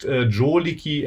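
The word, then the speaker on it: 定力: but he's using um the character joliki this is pronounced joliki and Japanese and that's um a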